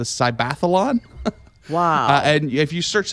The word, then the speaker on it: Cybathlon: I pronounce this right it's a mixture of cyber and Athlon they're calling the cybathlon wow and if you